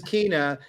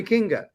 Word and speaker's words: Kinga: She spells it Kinga, but then everyone says Kina, but she goes, no, call me Kinga. So I just say Kinga for now. I just say it how it's spelled.